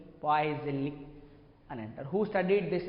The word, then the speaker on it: Poiseuille: The complete name is, మరి pronunciation అలానే చేయొచ్చు కాబట్టి Poiseuille, Poiseuille అని అంటారు.